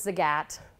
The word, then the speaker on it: Zagat: in somewhere there Zagat it's technically pronounced as a gat but every time I say sig app people look at me like I'm crazy so Zagat in 2017